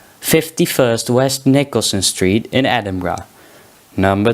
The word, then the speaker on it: Edinburgh: The correct pronunciation of Edinburgh is Edinburgh.